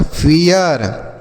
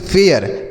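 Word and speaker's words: fair: में यही आप लिखेंगे जैसे यफ से लिखेंगे फ अब ए आई के बाद आर है तो ए का उच्चार ए आई का उच्चारण होगा ए की मात्रा और य यही लिखेंगे यही यही लिख देंगे आर से र ये लिखा गया फेयर यही होगा सही उच्चारण इसे हम पढ़ेंगे फेयर ठीक है बच्चों मजेदार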